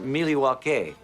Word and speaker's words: Milwaukee: trade with the Native Americans in fact isn't Milwaukee an Indian name yes Pete it is actually it's pronounced milake which is El gonin for the good land